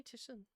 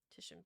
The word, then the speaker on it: Titian: I need the pronunciation. Titian. Titian? Is it really Titian?